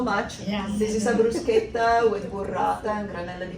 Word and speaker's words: bruschetta: This is a bruschetta with burrata and granella di pistacchio. How which do you are pronounce those, that word correctly? Bruschetta? See, the CH makes a K sound in Italian.